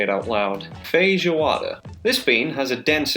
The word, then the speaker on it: feijoada: Man, I need to learn how to pronounce that before I say it out loud. Feijoada.